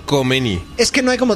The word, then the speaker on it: Khomeini: Es una pronunciación que nosotros no podemos hacer. Es como y nos vamos a negar a tratar de hacerlo. Es como que te ahogas.